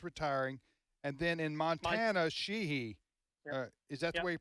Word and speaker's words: Sheehy: That's going to flip because Joe Manchin's retiring, and then in Montana, Sheehy. Is that the way you pronounce it?